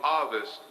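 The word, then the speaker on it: Ovist: There is in history, if you do the research again, a theory called the Ovis theory. It's spelled O-V-I-S-T. It's pronounced A-H-V-I-S-T.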